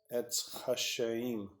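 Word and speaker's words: Etz Chaim: How do we pronounce Achim? Etz Hashaim.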